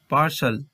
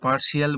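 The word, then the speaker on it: partial: এরপর পার্শাল পার্শাল, এখানেও কিন্তু শিয়াল বলবো না, এটাকে পার্শিয়াল বলবো না, এটাকে বলবো পার্শাল।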